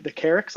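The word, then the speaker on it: Carryx: So I actually already mentioned this book a little bit when we talked about sci-fi, but the Carrix, I believe is how you pronounce it, from Mercy of the Gods, which is the alien species that comes down.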